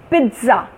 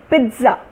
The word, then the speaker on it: pizza: Pizza, there is a T in the P. So pizza, I say pizza, pizza.